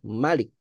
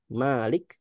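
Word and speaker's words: مالك: Nah, Malik ini memang ada dua cara baca ya. Ada yang membacanya Malik, ada yang membacanya Malik. Jadi ada yang bacanya panjang Malik dan ada cara bacanya pendek Malik. Dan dua dua cara baca ini sama-sama benar dan sama-sama digunakan di Quran.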